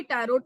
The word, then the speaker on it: Tarot: टैरोट को divine किया, इसको हम लोग वैसे टैरो बोलते हैं, स्पेलिंग इसकी टैरोट लिखी होती है, so what we pronounce it एज अ टैरो, right. और इसकी स्पेलिंग होती है TRATARO, टैरो लिखी होती है, बट we will call it एज अ टैरो।